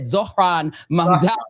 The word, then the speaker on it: Zohran Mamdani: He said Zohran Mamdani.